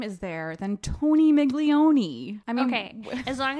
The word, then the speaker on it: Migone: Carmela I love it Mrs migone or migon it's migon as we learn we